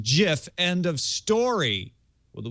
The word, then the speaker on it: GIF: pronunciations they are wrong it is a soft G pronounced GIF end of story well